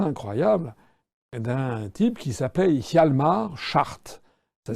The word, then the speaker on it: Hjalmar Schacht: le parcours assez incroyable d'un type qui s'appelle Hjalmar Schacht. Ça s'écrit H-J-A-L-M-A-R, c'est son prénom, et Schacht, c'est S-C-H-A-C-H-T.